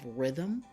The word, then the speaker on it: rhythm: a few we have rhythm you don't even hear the H but you hear the